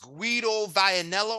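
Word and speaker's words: Guido Vianello: an opponent again against squido vianello I believe is how you say his name a top-ranked Prospect you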